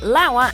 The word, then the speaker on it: Lauer: Former TV news anchor and personality Matt Lauer and Giada De Laurentiis have always had a cozy relationship.